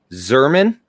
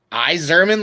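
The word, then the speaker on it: Yzerman: hardly drank it all it's zerman and there is another sound in front of that what else does the y make i don't know phonetically why and i i zerman like an ipod say that again say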